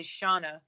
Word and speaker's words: Shana: up guys is it's it's actually Shana but it's okay everybody mispronounce is my name but it's all good